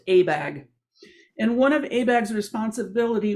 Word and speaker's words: ABAG: bay area governments and it's pronounced abag and one of abag's